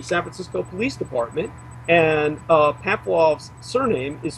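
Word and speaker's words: Pamfiloff: Now, his home at 2430 Leavenworth was raided by Inspector Glenn Pamphloff of the San Francisco Police Department, and Pamphloff's surname is spelled P-A-M-F-I-L-O-F-F, Pamphloff.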